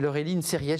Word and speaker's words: Laureline Serriès: Et Laureline Serriès, j'espère que j'ai bien prononcé votre nom.